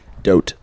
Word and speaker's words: Vogt: Stephen Vogt. Vogt? Yeah, from 2022. No G. Well, there is a G, but not There is a G, silent but you can't pronounce it. Yeah. Um, Fucking don't. Yeah. Dote.